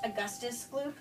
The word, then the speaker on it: Augustus Gloop: so i'm here with augustus loop it's pronounced augustus gloop augustus glue okay great you are officially going